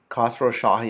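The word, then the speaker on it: Khosrowshahi: name to remember guys Dara d-a-r-a Castro Shahi khasrow Shahi and I'm not going to spell that former Expedia CEO um yeah and here's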